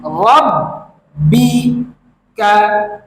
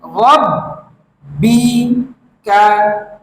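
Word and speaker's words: رَبِّكَ: তুমি নামাজ পড়ো চলুন পরের শব্দটি শিখি লি রব্বি কা লি রব্বি কা লি রব্বি কা এভাবে করে 10 বার বলুন এই শব্দের উচ্চারণ হচ্ছে রব্বিকা রব্বিকা এই শব্দের অর্থ হচ্ছে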